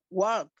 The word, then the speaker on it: walk: Entonces veamos cómo nosotros hemos muchas veces pronunciado incorrectamente por no saber que algunas de estas palabras tienen silent letters, tienen letras silenciosas.